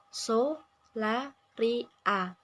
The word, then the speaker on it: Solaria: merek R milik penggugat menggunakan empat penanggalan suku kata dalam pengucapannya yaitu so la r a sedangkan dalam pengucapan merek